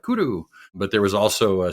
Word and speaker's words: Kuru: off of two things is Kuru pronounced in Japanese culture as the way the teenagers used to speak cool like hey that's really cool like kudoo but there was also